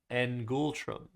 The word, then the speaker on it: ngultrum: Ngultrum. So you said ngultrum? Correct. Yeah, that's that's how I would have pronounced it, too.